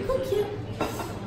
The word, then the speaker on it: koek: biscuit, then you say koekje. Or if it's a really big one, then it's a koek. A koek. You say it like that. Koek. You have to say it deep. That's just my accent.